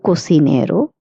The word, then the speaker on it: cocinero: El cocinero, cook. La cocinera, female cook. Again, I would like to say the CI pronunciation in this word will be pronounced as C or C.